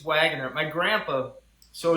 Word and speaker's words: Waggoner: now I'm saying it wrong no it's it's Wagoner my grandpa so it's a it's my family